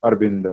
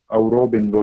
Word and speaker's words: Aurobindo: In English also, Arbindo, not Aurobindo, not. Pronunciation is Arbindo only. Spelling is AUR, but while pronouncing Arbindo only.